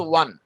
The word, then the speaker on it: won: আমরা উচ্চারণটা আগে করতাম ওন না, এটার উচ্চারণটা হচ্ছে ওয়ান।